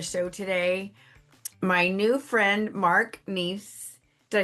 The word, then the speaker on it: Neace: My new friend, Mark Neace.